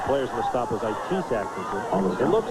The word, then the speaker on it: Itis: And the players in the stop was Itis Atkinson. It looks like that. It's pronounced Itis.